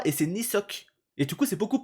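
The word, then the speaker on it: Kneesocks: Mais du coup, moi je prononçais, on se rappelle, euh Knisock avec le K devant. Alors qu'en fait, c'est le K ne se prononce pas et c'est Nisock.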